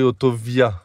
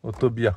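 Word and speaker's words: autovía: Oui, parce que ça s'écrit autovia. Et nous on le prononce le V. En espagnol. À l'espagnol. On prononce le V. B. Autovia. Autobia.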